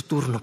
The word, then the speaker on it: turno: Es tu turno, punzada. Es tu turno, Peter. Es tu turno, Peter. Turno. Notice the RN pronunciation and how they go together. Turno, turno, no, rno.